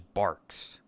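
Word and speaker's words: Barq's: the gray label is Barks. You're thinking of A and W root beer, which is a different kind of root beer. It's bark spelled like B A R Q apostrophe S.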